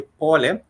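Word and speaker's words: pole: do say tadali for please we do say paul which is pronounced or which is spelled as a Paul P O L E for sorry.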